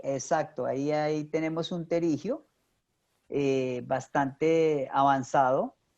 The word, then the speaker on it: pterigio: suena porque siempre decimos pterigio pero se escribe con una p antes de t el pterigio es un